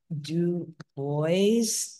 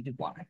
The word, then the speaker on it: Du Bois: happy to start because we thought so much about uh web do boys as most of us in the annual Phone World say but I certainly understand that the uh uh the Frankle phone pronunciation would be du it's my my French